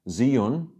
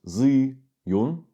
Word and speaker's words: Zhiyun: which I got very excited about from um zun actually it's pronounced Z Yun um and um this is incredible this is